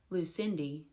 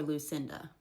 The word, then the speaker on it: Lucinda: Lucindy for Lucinda.